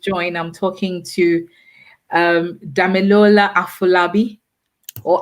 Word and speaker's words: Afolabi: So if you've just joined, I'm talking to Domilola Afolabi or Afolabi. How do you all pronounce Afolabi or No, Afolabi?